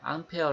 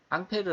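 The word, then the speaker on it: Ampère: 있습니다 1패를 이 사람 의 이름을 따서 이렇게 암페어 라는 단위를 주었는데요 앙페르 라는 것은 프랑스 5c 발음 이구요 인자 미국으로 넘어가면서 미국에서 a 마귀의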